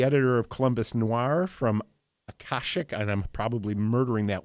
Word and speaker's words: Akashic: And by the way, you pronounced Akashic books exactly right.